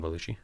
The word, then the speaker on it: Belushi: just said it perfectly so did i john belushi yeah that's how you say it jumbled blues brothers saturday night jambalushi john belushi i said that correctly john belushi belluji jamba